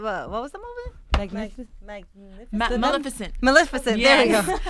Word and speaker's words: Maleficent: Magnificent. What was the movie? Magnificent. Maleficent. Maleficent. Yes. There we go. Can't pronounce it.